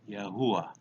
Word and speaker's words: Yahuwah: Yod, He, Wah, He, pronounced Yahuwah.